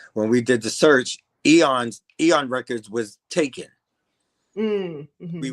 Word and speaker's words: Eon: kept saying Aeon because in my mind it was like Aeon Flux, but yeah. But it's Eon. Is it Eon? So, yes. Yeah. Okay. So, thank you for correcting me on the pronunciation because I sure would have jacked it up.